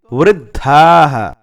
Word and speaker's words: वृद्धाः: दधाः ऐसे बनेगा ना, द पहले उच्चारण होता है, ध बाद में, और ऐसे हम सबको मिलाकर बोलेंगे तो वृद्धाः ऐसा बनेगा।